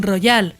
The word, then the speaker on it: royale: This nobility and their soldiers, now excluded, have adopted the name 'team royale' (pronounced like "casino royale").